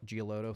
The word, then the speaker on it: Giolito: Lucas Giolito, I think is how you say it. He's with the Guardians. I'm probably mispronouncing. Giolito, thank you.